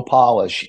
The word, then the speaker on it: Polish: heard of Joe polish it's spelled like polish but Joe polish and he started something